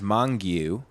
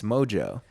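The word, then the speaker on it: Mongeau: thought it was Mongu. Yeah. But it's Mojo.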